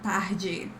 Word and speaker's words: tarde: Tar, similar sound to English, but I say tá, like a dry sound, boa tarde.